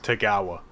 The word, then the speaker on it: Tagawa: So that's how you remember it, and then it's just Tagawa as it's spelled.